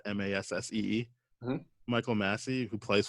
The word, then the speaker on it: Massee: The actor Michael Massey, I want to say that's how you pronounce that, Massee.